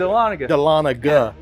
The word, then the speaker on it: Dahlonega: I say Delania how do you all say it how is it pronounced? Delanaga I say Delania So I have to have to really annunciate the G right Delanaga Yeah I mean the